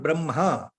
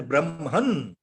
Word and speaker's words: Brahma: They have used the Brahma word as Brahman, Brahman. See, that is a very wrong way of depiction of Indian Sanskritam words.